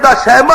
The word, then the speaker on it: شیما: اصل اندر عربی دا نام شیما، شین یہ میم الف ما اگے حمزہ شیما دا نام ہے عربی زبان اندر تلفظ الرحیق المختوم والے جناب مولانا صفی الرحمان مبارک پوری انہوں نے بھی ضبط تلفظ یہ ہوئی کیتا ہے شیما، لہذا صحیح تلفظ یہ شیما ہی ہے۔ میں عرض کر رہا